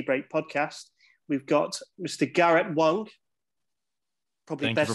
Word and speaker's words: Garrett Wang: four uh tea break podcast we've got mr garrett wong probably better pronouncing it thank you for pronouncing it correctly